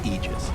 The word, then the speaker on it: Aegis: frog made a point okay so the correct pronunciation technically speaking of ages is aegis this it's a literal word we're going to